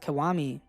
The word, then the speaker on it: Kiwami: The character for his name is Gakudo, but he introduces himself and explains that it's pronounced Kiwami.